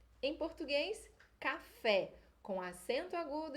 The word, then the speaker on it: café: português a gente fala café espanhol vamos falar café café não na palavra em português a gente